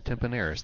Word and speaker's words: Tempaneris: DH, Ethan Tempaneris. Ethan Tempaneris. The N is silent.